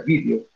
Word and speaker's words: vídeo: Pero si me dicen, vas a ver un video, o sea, el video significa, es con tilde en la I, pues que se pronuncia video.